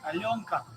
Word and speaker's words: Alyonka: So here's this guy here, and he's telling us how to pronounce it. All right, we just got some new candy. What's it called? Alyonka.